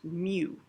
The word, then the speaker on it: mu: a little tail in front uh this is pronounced mu and again it's a greek letter uh it